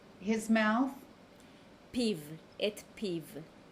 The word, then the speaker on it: פיו: How do you pronounce his mouth? פיו, את פיו. Peeve.